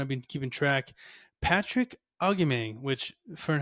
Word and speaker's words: Patricio Agustin: that have kind of been keeping track, Patrick Augimeng, which, Fern, how do you say it again? Augustine? Augimeng? I got it now. Augimeng? Something like that. Patricio Agustin.